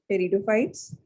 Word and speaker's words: pteridophytes: P is silent. Pteridophytes.